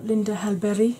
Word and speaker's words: Linda Hallberg: I want to try Linda Hallberg, or Linda Hallberg, which I believe is the Swedish pronunciation.